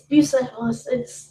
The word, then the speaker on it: Bucephalus: It's Bucephalus.